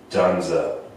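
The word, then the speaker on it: Dzundza: The writer is written by a guy named Joe Esterhaas, and it stars Michael Douglas, Sharon Stone, and George Dunza. That's how you say it.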